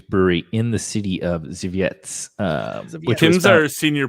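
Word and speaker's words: Żywiec: Zviets. It sounds like you practiced that It's too. ZHI. Well, the pronunciation is ZHI-VIETZ. So I'm gonna go with Zviets.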